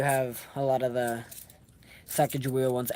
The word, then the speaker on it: Sacagawea: Everyone calls it Sacagawea. Um, I've learned in school that the correct way to say it is Sacagawea. And ever since then, like when people say Sacagawea, I've been mad. I'm always like, it's kind of said a different way.